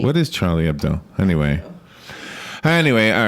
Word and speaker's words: Charlie Hebdo: Charlie Hebdo. Yeah, they would know. Charlie Hebdo.